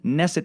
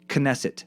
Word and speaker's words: Knesset: of throat clearing sound at the beginning also neset is pronounced knesset the K is not silence I also wanted